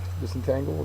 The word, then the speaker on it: disentangle: uh it's a verb disentangle the third syllable is accented it means to free